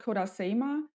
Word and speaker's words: Kodasema: It's a Kodasima. I think I'm pronouncing that correctly. What is it? Yeah, the company is called Kodasema, and it's a bit on the larger side of the tiny house.